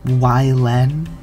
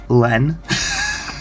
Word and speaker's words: Wylen: Anyways, it's with Studio Ylen, I think is how it's pronounced. They pronounced it like that themselves, and in my head before I heard them pronounce it like that, I was pronouncing it Len. Maybe even Len, but Ylen slips off the tongue better.